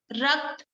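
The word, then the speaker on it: रक्त: Ras, or maybe I'll just spell it. R-A-S-A, ras. Rakt, R-A-K-T-A, rakt, which called blood.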